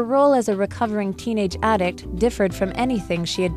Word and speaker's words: addict: 丧子的经历让他能更理解有同样伤痛的家庭。接着我们看到一个名词 addict，指成瘾者、入迷的人。像是 I think Tina is a chocolate addict because she eats it all the time. 我认为 Tina 是巧克力成瘾者，因为她总是不停地吃巧克力。另外，这个字也可以当动词，当动词时念作 addict，指使沉溺、使成瘾，常用被动式，后面接介系词 to。